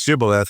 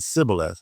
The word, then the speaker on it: Shibboleth: But as far as where we're going, that's Shibboleth, and he said Sibboleth. Well, he couldn't pronounce it right, so they recognized them by the accent.